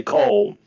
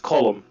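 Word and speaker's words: Colm: That's the Irish pronunciation of the name. Most Americans mainly in America say Cole because that's what they think of is when they first see it, but it's pronounced column.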